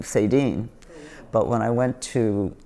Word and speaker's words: Saydean: I also changed cuz I was born Sadian and when I was in kindergarten my teacher mispronounced it and I said I like this one better and that's how I became Sadine.